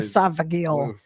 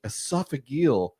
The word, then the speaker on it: esophageal: Esophageal.